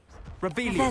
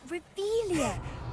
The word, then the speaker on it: Revelio: Revelia. Saying it wrong. Ugh, Revelia. Much better.